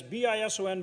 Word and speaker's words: bison: gold figure and and remember bison is that's bison but it's a z not an s when you when you say it properly um but they showed